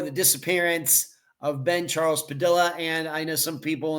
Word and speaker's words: Padilla: And I know some people in the past, Ed, it's Padilla. I'm just going by what Tim Wright said in the interview. He's the one that has spoken to Ben's family, and that's how he pronounces the last name.